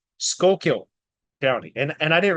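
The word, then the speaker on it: Schuylkill: how you say it shul kill or what anyway skull kill county is how they say that I just want to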